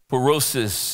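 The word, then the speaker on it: πύρωσις: trials the Greek word for that phrase is perosis is the way it's pronounced in Greek that word and it means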